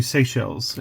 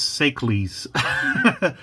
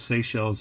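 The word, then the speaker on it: Seychelles: lot of stuff so instead of pronouncing this in the obvious way sells I used to call this sees because I also liked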